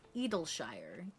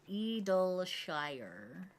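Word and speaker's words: Idyllshire: Clown said that's the correct way to say it. It's Edleshire. Edleshire.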